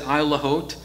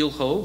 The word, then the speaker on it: Isle Haut: And it's pronounced different ways. In Kings County, we said Isle Haut, but French people call it Ile Haut, which is probably a better pronunciation. Different people call it different things, but for us, it's Isle Haut.